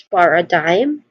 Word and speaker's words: paradigm: to the pronunciation, uh we break it into three parts. Paradigm, first is par par which has a which is a which has a soft and short uh vowel sound. par again par and then it's